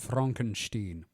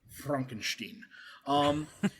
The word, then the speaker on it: Frankenstein: And it's pronounced Frankenstein. Frankenstein.